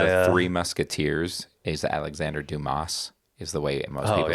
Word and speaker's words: Dumas: a secret society of oh the S is silent sorry it actually is cuz